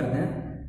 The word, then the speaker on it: the: देखिए, यानी वर्ड है आपका THE, प्रोनाउंसिएशन निकलता है आपका दी, क्या निकलता है, दी। ठीक है, क्या निकलता है, दी निकलता है।